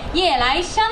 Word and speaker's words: 夜来香: もしれません夜くる香りと書いて夜来香と読む花が台湾に